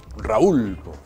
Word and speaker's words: Raúl: Raúl. Algunos dicen Rul.